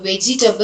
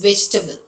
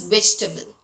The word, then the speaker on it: vegetable: And it is not vegetable. It is vegetable. No e sound. It is vegetable.